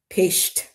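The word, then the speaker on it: péist: Peist, Peist, a little apostrophe over the E. That's pronounced peist.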